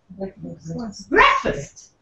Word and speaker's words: breakfast: is all about so it's not breakfast it's breakfast breakfast see that is the spelling that you see b k f breakfast okay that's engineer awesome